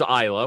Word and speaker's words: Isla: seen her interview and and her name is isla which i thought okay right and i'm not